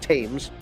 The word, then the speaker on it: Thames: saying it wrong the Thames River this th but I say Thames but they say they pronounce it tames so the tame the